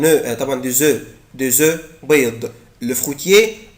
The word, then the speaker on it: œufs: إنما ما تيجي œuf جمع يعني فيها اسم ما بنطقش الاف. un œuf طبعا des œufs.